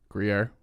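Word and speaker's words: Gruyère: How do you pronounce the French cheese that's in French onion? Gruyere. What? Gruyere.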